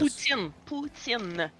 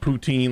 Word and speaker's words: Putin: Putin. Putin. That's perfect. Okay. Bye bye. I was like, it's not poutine like I was pronouncing it.